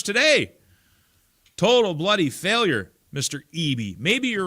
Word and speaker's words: Eby: Boxcar Philly says, I wish you learned to pronounce David Ebby's last name correctly. It's starting to bother me. Other than that, love you. Who cares? Who cares what Dilly Dave and how I pronounce his name? Eby? Do I got to really pronounce it Eby? Do you really care? Like, such a small thing to actually get upset about. Eby versus Ebby.